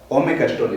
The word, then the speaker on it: ome caxtoli: Ome caxtoli, pegado, se pronuncia así, pegado.